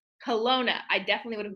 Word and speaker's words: Kelowna: Kelowna. Kelowna. I definitely would have butchered that, so thank you for the help.